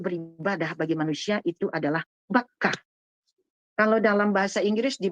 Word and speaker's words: Bakkah: bagi manusia itu adalah Bakkah. Kalau dalam bahasa Inggris di Bible, saya ingat waktu membacanya, waktu menamatkan Bible, B-A-C-C-A, Bakkah. Kalau orang Barat membacanya Bakkah.